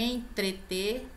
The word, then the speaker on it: entreter: Subsistência não se escreve com Z, é com S. Aqui novamente o entrete, né? Que é entreter.